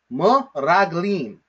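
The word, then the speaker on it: מְרַגְּלִים: So the way that we read this word, the way that we pronounce this word, is m-raglim, m-raglim, m-raglim.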